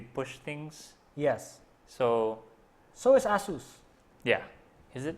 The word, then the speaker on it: ASUS: So is Asus. Yeah. Is it? It's Asus, right? I don't know. I think it's Asus, not Asus.